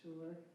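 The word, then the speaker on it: Suir: we're talking about because it sounds like the word sure it is pronounced sure but it's actually the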